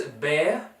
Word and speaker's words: Behr: This is BEHR. Is that how you say it? BEHR? Yeah, I believe so. He's a bear.